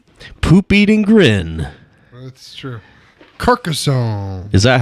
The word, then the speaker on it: Carcassonne: poop eating grin that's true Carcassonne is that how you actually pronounce it yeah yeah it's a good game